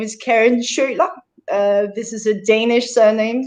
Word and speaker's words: Schiøler: well um yes my my name is karen sherlock this is a danish surname so it's next to impossible to pronounce so yeah i was like i'm not